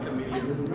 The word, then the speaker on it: Kameleoon: director D at chameleon did I pronounce that correctly you could just call it chameleon chameleon yes chameleon like that sweet little animal Kristof brings a lot